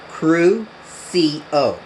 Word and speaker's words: Crucio: Let's pronounce that. Crucio.